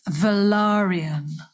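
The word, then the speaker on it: Velaryon: give you a quick lesson yes please it's velarium i'm doing it wrong yeah no only because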